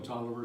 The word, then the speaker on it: Taliaferro: I'm Tolliver, spelled Taliaferro.